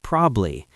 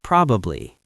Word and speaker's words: probably: Probably, many people say "probly". It's probably.